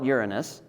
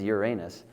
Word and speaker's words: Uranus: There are different pronunciations of Uranus. And uh I hear most people call it Uranus, which is fine. Uh, but if you go by the Greek, um, or the I suppose the Roman pronunciation of it actually is Uranus. Um, so that's the way I'm going to say it.